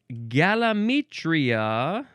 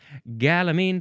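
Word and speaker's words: gallamine: It is galamitria. No uh galamine.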